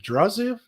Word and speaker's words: Draziv: Is it Draziv? Did I pronounce it right?